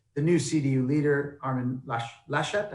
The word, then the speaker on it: Laschet: And the sort of corollary to that is the new CDU leader, Armin Laschet, how do I pronounce that?